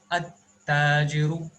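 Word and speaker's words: التاجر: So this is pronounced as at-tajiru. See, the lam is getting omitted while pronunciation.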